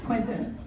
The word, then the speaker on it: Quentin: Because everybody calls you Clinton, and that drives you insane. So it's Quentin.